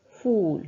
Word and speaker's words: فول: الى نطق هذه الكلمه فول فول فول مددنا النطق في حرف الواو فول حرف الفاء في